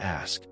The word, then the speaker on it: ask: All right, moving on to ask. The classic X pronunciation. I hear this one a lot. It's simply ask. No reversing the sounds.